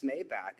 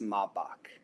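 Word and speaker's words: Maybach: So I I was saying, hey man, that's a nice Maybback. And he's like, it's pronounced Mabach.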